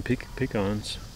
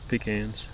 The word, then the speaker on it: pecan: we'll probably have some pecans pecans how do you say it i say both pecan said i say pecan that's not right okay it's pecan it probably is but i've always said pecan yeah something that um